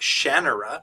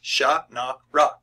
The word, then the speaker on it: Shannara: I'm sitting there going, there is no E. Why are you pronouncing the second A as an E? It's not Shannara. It's Sha-na-ra.